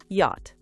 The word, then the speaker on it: yacht: Pronounced yacht. The ch is silent.